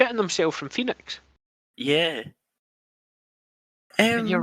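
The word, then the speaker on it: Fenix: before he's real good phoenix is real good i mean he's his name is spelt terra play is f-e-n-i-x i don't like it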